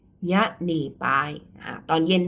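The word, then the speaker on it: ညနေပိုင်း: เนาะ ตอน เย็น อ่า ภาษา พม่า ออก เสียง ว่า อะไร คะ ตอน เย็น ยะน่ ปาย ยะน่ ปาย อ่า ตอน เย็น มี อะไร บ้าง 16:00 น.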